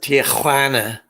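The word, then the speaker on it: Tijuana: They say, you have to say it right. Tuana.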